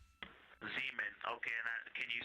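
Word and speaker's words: Zeman: Zemen. Okay. Can you say the first letter? I may be pronouncing that wrong.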